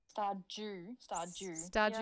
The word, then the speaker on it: Stardew: But that's how I say Jew. Jew. Stardew. Yeah. Stardew yeah. Valley. Yeah. Weird. Mm-hmm. D-U-E. Jew. Dew.